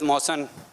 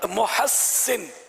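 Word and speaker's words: مُحسِّن: محسن، سین تشدید، محسن. محسن.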